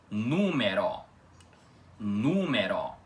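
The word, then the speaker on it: numero: As poucas coisas que mudam são, primeiro de tudo, as vogais E e O na palavra são pronunciadas com som aberto, como vocês podem perceber aqui na palavra, número.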